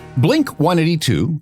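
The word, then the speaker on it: Blink-182: And this means, and Thomas talked about this, that the proper pronunciation of the band's name is not Blink 182, but Blink 18-2.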